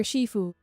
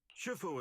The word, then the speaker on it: Shifu: When I see this word, right, I think Kung Fu Panda, master Shiffue, and I'm learning that it's pronounced Shifu instead.